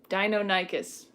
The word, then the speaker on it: Deinonychus: Deinonychus.